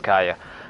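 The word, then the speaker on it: Kaeya: Anyway, we should go meet up with Gaia first. Okay, so I did say it right the first time. It was Kaya.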